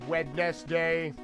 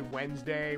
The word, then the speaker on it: Wednesday: like how we uh we don't say wedness day we just say Wednesday we don't say February